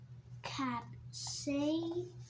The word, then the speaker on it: capsaicin: This is how you pronounce it. Capsaicin. Capsaicin. Don't pronounce the It's like it's silent. Capsaicin.